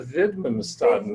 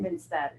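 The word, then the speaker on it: Widmanstätten: I know it's something statin pattern, but It's the Widmanstatten. Widmanstatten, yes, that's the one.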